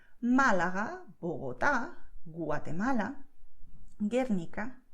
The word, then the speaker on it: Guernica: And in this combination GUE, GUI, the letter U is written, but it's not spoken, okay? So you don't have this sound.